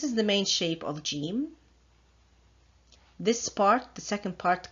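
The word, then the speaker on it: جيم: dot in the center the sound of gym can be either je or ja both sounds are present in the English language so this is the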